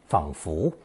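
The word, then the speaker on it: 仿佛: Pronounced 仿佛, it's a slightly more formal way to say 好像。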